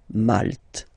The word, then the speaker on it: Malte: Same thing here, you don't insist on the final E. Malte.